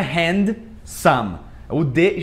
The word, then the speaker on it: handsome: Só que não é handsome. O D geralmente ele não é pronunciado, fica handsome.